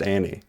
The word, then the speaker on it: Anne: no, her name is pronounced Annie. I saw an interview where she was saying like, yeah, I've just like everybody's called me Anne my whole career, but like it's actually pronounced Annie.